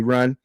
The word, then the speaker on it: Rahne: Ricky Rand. That's how you pronounce it. Rahne.